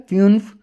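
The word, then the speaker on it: fünf: इसके फ्यून्फ, फ्यू यू, ठीक है, फ्यून्फ 5 को ऐसे कहते हैं, और फ्यूआ के लिए होता है, लेकिन आप सिर्फ अभी ये याद रखें इसको प्रोनाउंस करना फ्यूआ।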